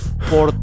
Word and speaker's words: Sport: La S suena como en español, pero antes, cuando está una S antes de la P, suena como shh, callaras a alguien. Sport es una S antes de la P.